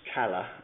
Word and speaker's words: caller: caller c a r which if pronounced kala as is the way in the dialect of newcast and the northeast of England means fresh as in